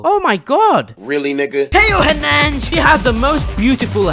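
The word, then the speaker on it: Theo Hernández: I want you in my squad, Teo Hernandez.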